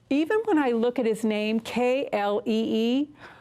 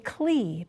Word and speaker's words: Klee: Y queremos cantar la canción sobre él porque incluso cuando veo su nombre, K-L-E-E, siempre quiero decir Klee, pero decimos Klee.